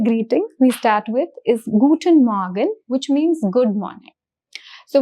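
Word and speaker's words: Guten Morgen: Now if you observe the pronunciation of air the pronunciation of air in dodge is really subtle. So the pronunciation is guten morgan.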